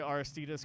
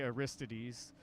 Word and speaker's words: Aristides: Well, I play Aristides guitars, or that's how you pronounce it. But a lot of people say Aristides, but it's a company out of the Netherlands.